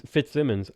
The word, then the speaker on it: Fitzsimmons: If it's double M's, it's Fitzsimmons, and there's no two ways about it.